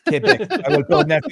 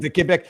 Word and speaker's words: Quebec: In the south, it's Quebec. No, no, in French it's Quebec. Quebec.